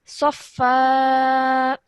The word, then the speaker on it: صفا: Because it's a tanween followed by an alif madda, that means that only one stroke of the fatha is pronounced, but the alif madda remains. So this would be safa.